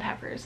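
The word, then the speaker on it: Heffers: is kind of funny it's called heifers like the cow it's spelt differently it just sounds similar um but it was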